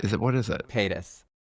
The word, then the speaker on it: Paytas: We have like a couple of like high Pataeus? level Paytas. Is it what is it? Paytas. Paytas. I added a whole couple syllables to her name.